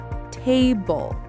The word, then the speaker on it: table: Most two syllable nouns have stress on the first syllable. Nouns? You mean like people, places, and things? Exactly. Listen to these words. Table.